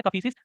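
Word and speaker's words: Kadphises: था पुजशीस, है ना, कड़फीसिस, डी साइलेंट है, कफीसिस, बीमा कफीसिस, दे वर द रूलर्स।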